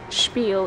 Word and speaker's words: spiel: But they just employ people and then give them a spiel to say to people, like, spiel is how you say it, because I guess it's Jewish.